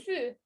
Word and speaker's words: fut: fut avec T. Je ne prononce pas le T. Il Oui. fut.